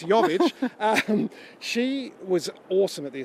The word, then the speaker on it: Jovic: Got the J, but it's Jovic.